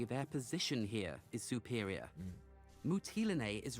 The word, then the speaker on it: Mytilene: Mytilene. Okay, that's how you pronounce it.